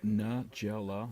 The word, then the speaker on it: Nagella: Okay, how does she pronounce her last name? It's Nagella. Nagella.